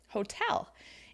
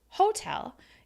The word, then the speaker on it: hotel: is your word stress the word hotel is actually stress on the second syllable hotel and if you're stressing it on the first syllable hotel it's going to sound unusual to a native English speaker they're going to need